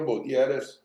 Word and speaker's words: Butierez: Congressman who's pretty sick so you're better pronouncing the names than I am so your name my name is btis and it's nice to be here Cynthia and